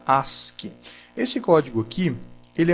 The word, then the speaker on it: ASCII: é o código as se escreve a s c i i mas se fala se pronuncia Ask esse código aqui ele